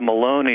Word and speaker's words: Maloney: what's under attack here representative Maloney of New York rhymes with balone uh that probably expresses